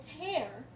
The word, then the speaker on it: Tears: have to cut and tear these pieces of fabric to make dresses. This name is equally properly pronounced tear, as in the Trail of Tears, or tear, as in being torn from fabric.